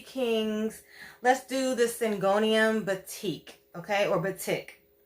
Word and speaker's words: batik: let's do the syngonium batik okay or but tick i think it's batik everybody else says batik whatever you you you